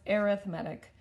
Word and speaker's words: arithmetic: Yeah, and this is pronounced arithmetic as opposed to arithmetic, which is spelled the same but pronounced differently.